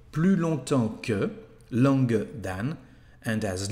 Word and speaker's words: longtemps: And as you can see, we don't pronounce the letter S here. Plus longtemps que, longer than.